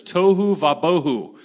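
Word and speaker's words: tohu va-bohu: was formless and empty in Hebrew that's toou vaboh it Rhymes this there's a lot of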